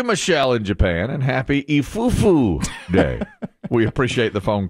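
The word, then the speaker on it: いい夫婦: a word and so today is is ifufu day which means good couples day because the the letters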